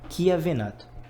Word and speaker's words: Chiavenato: Se escreve com CH, mas se pronuncia como se fosse um Q, tipo Chiavenato.